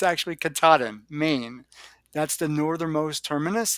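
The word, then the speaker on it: Katahdin: It's 14 states long and I think I pronounced it incorrectly in the video and so I'm going to have to correct myself. It's Kataden. Uh, or no, it's not. It's Kataden because I always say Kataden and it's actually Kataden, Maine.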